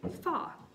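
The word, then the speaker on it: 发: That's because the word for the number 8, ba, rhymes with the word for prosperity, fa.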